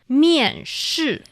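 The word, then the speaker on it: 面试: And then, after applications, you need to go rounds of job interviews, and which is called miànshì.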